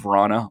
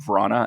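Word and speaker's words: Vrána: rock the boat see jacob verona or jakob vrana as he is actually supposed to be referred to but now he's returned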